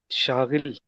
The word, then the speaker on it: Shagil: Actually, it is Shagil.